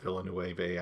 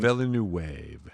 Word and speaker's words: Villeneuve: I do like that now Villanueva. I know I'm mispronouncing his name, and I apologize, We Denny.